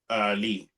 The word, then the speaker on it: Leigh: What's his first name again? Lee. Leigh Wood. So I'm just gonna call him Lee.